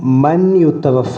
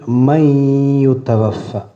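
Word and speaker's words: مَن يُتَوَفَّى: അപ്പോൾ വമീക്കും മൻ യുത്തവഫ എന്ന് ഓതാൻ പാടില്ല, ആ നൂനൻ ഇഖ്ഫാ ചെയ്യണം. വമീക്കും മൈ യുത്തവഫ, മൻ യുത്തവഫ എന്നല്ല, മൈ യുത്തവഫ.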